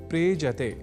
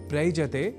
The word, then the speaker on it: प्रेजति: ऐसे ही एक और धातु या क्रिया का शब्द है प्रेजति, जिसका अर्थ होता है कांपता है। यहाँ प्र उपसर्ग के साथ एज्री इस कंपन परख अर्थ वाले परस्मैपदी धातु का प्रयोग है। दोनों के मेल से शब्द बनता है प्रेजति, प्रैजति नहीं। कहने का अर्थ यह कि